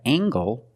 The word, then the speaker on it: angle: compare these two words we have angle spelled l e making the nasal sound and the hard G angle this is a